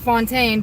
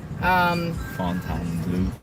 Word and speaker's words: Fontainebleau: Everyone calls it Fontaine, but it's spelled Fontaine. Fontainebleau. Yeah, that's how I say it because, you know, it's fancy and it's bougie, so I gotta say it bougie. Yeah, it's meant to be said with a French accent.